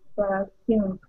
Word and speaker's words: perfumed: I powdered and perfumed her. Mm-hmm, very good. So powdered, pow is strong, perfumed, second syllable is strong.